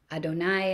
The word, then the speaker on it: Adonai: Yod Hey Vav Hey, and as he affirms, we don't pronounce Yod Hey Vav Hey, we pronounce Adonai instead, which simply means my Lord.